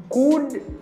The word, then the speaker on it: could: Now I say, mbadi, could you? Now I make the linking. I say, could you spare a couple minutes? Mbadi, could. Because the letter L in this word is silent.